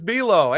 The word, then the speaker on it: Buelow: And I appreciate you saying my name so well, too, with the pronunciation. You really drove it home with just like the cookie.